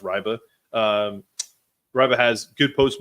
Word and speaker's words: Reibe: shooting you're going to win um this kid Riva has apparently is it's pronounced riba um riba has good post moves he's just